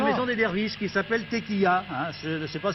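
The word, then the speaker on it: Tekija: Oui, qui s'appelle la Tequia, c'est-à-dire TE, ça s'écrit K-I-J-A.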